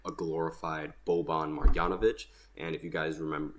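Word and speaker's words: Marjanović: right no I didn't these yanovich are so difficult to pronounce so boban marianovich I believe that is yes marianovich that's who it is I said it right the first time and then I mixed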